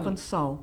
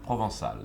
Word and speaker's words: Provençal: You have, now you will have to tell me how to pronounce this, a Provençal hue. Is that correct? Provençal? Provençal. Provençal, yes.